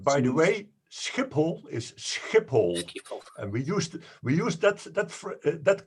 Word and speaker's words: Schiphol: And by the way, Schiphol is Schiphol, Schiphol. and we used that kind of phrase in the Second World War as a catchphrase to catch Germans, because they also said Schiphol.